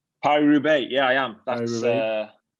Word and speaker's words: Paris-Roubaix: Are you riding Paris to Rowe? Is that how you say it? Paris-Roubaix, yeah, I am.